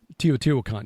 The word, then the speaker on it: Teotihuacan: build the megalithic sites like Teotihuacan, or not pronouncing it correctly, I'm sure. Teotihuacan, yeah.